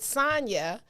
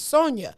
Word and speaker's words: Sonja: to call you because i pronounced it sonya the way i pronounce my friend sonya's name and maize was like her name is sonja and i was like